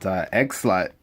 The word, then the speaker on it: Eggslut: And yeah, it is like egg, like huevo, and then slut, like bruja de la noche, like lady of the night.